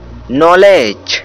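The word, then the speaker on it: knowledge: है और इसे नाइट पढेंगे यह नोट व्यक्ति नॉलेज की से पढेंगे उल हक के लिए साइलेंट है क्योंकि यह है और के बाद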